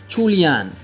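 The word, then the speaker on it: 初恋: The Chinese name pronounces chulian and means first love in Chinese.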